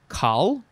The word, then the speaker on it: col: please alright next is i guess you would say khal it is spelled c-o-l first form noun from